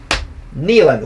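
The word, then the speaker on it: Neyland: know somebody asked as asked him how he pronounced his name he said nean like my knee thing I like that and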